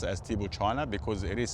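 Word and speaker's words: Tibouchina: why sometimes I I I pronounce it as tibo China because it is spelled exactly the same way as China C hi i n a so TBO China is the way you pronounce it but it's spelled like China basically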